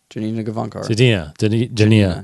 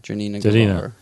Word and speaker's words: Janina Gavankar: Janina Gavankar. Janina Gavankar.